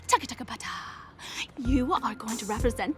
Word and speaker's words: TBT: short t TT htbt bracket TBT pronounced Tua you are going to